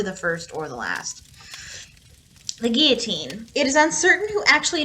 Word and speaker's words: guillotine: of people pronounce it guillotine the french when you put two l's together it makes a ya sound it's pronounced guillotine she was executed without